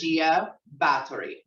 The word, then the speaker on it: Gia Barthory: Because I can't pronounce it. And she's sitting over there about to fall out. My name is Gia Barthory.